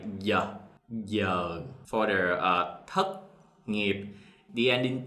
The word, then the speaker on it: thất nghiệp: In the South, we pronounce the thất ending T sounds like a C. So the Southern, thất nghiệp.